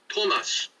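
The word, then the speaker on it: томос: emphasizes the vowel O, is pronounced Tomas in Ukrainian and Russian, which is identical to the name Thomas, the man's name, except it's spelled differently.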